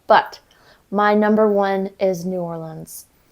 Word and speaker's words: New Orleans: But my number one is New Orleans. New Orleans. How do you say it? Nolans? Yeah. Nolans.